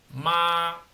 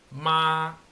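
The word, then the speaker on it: mā: final no es decir ma Ese es el tono uno entonces siempre que nosotros veamos un un pinín con el tono uno es decir con una línea recta tenemos que pronunciarlo con ese tono No ma allí no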